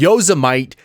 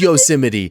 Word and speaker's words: Yosemite: it's yosamite it's yozamite god damn it no it is yo it is yosemite that is the way that they say it but it's [ __